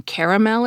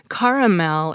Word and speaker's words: caramel: is second best and caramel is worst although he doesn't give a reason for his ranking I'll concede that the three syllable pronunciations better reflect the spelling of the word CA RA al but